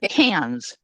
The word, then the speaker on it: Cairns: So when we're in Australia, we're going to go to Cairns. Is that how you say it, Linda? Cans, like 2 Okay.